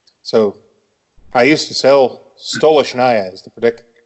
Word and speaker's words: Stolichnaya: So, I used to sell Stolichnaya is the pronunciation, but the easiest way to say anything about that brand is just call it Stoli.